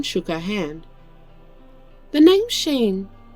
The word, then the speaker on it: Shein: "The name's Sheen, spelt with an E-I-N instead of an I-N-E."